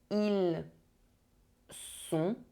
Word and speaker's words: ils sont: Do not mix up ils sont and ils ont. One sound is a se, the other sound is a the.